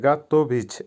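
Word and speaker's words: готовить: দাঁত দেওয়া বা গিভ ভার্ব গাতভিচ আবারো বলছি উচ্চারণ হবে গাতভিচ এর বাংলা হবে প্রস্তুত করা বা রেডি করা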